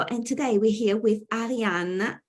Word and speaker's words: Ariane: And today we're here with Ariane Tavakol, pronounced in a very Italian way.